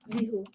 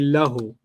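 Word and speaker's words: لَهُ: Lihu. Hu. But they don't say li. They say lahu. Lahu. The way they pronounce that is what? Lahu.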